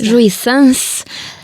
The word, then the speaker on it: joie sans: Joie sans.